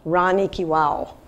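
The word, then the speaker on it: Rani ki Vav: stepwells actually pronounce Wow Rani ki well it's very hard to pronounce V's in India unlike all the other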